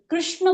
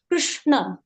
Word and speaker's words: कृष्ण: इसका उच्चारण र। कृष्ण बोलकर देखिए, कृष्ण कृष्ण कृष्ण कृष्ण। कृष्ण। ना तो मैं ये बोल रही हूँ कृष्ण, ना बोल रही हूँ कृष्ण, और ना ही बोल रही हूँ कृष्ण। इसका उच्चारण है कृष्ण कृष्ण।